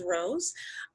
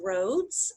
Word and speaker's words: Rose: For example, you know, Rose, my last name is Rose. Some people hear it as Rhodes, and that's R-H-O-D-E-S instead of Rose like the flower.